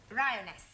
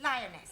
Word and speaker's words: lioness: of the following lion roness lioness roness no l l r r you're not saying it right very sorry I know try saying roness lioness good well in future